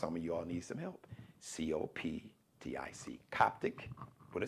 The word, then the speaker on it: Coptic: C-O-P-T-I-C. Coptic with a C. It's pronounced Coptic like K, but the C has the K sound.